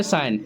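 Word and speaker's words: sign: कॉम इसे पढ़ते हैं साइन इसमें में जी साइलेंट होता है।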